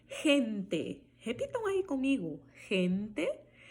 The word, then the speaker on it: gente: G antes de E, som de R. Eu vou falar gente, gente. Olha o E final também prevalecendo aí com o som de E. Gente. Repitam aí comigo. Gente.